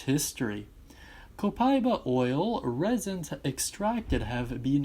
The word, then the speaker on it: Copaiba: I've always pronounced it Copaiba. That's how I believe it's meant to be pronounced.